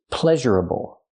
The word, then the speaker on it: pleasurable: adjective the adjective is pleasurable pleasureable pleasurable four syllables the primary stress on the first syllable ple pleasurable pleasurable